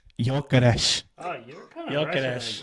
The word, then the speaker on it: Gyökeres: So in Swedish, it's pronounced as Viktor Gyökeres. Jokeres.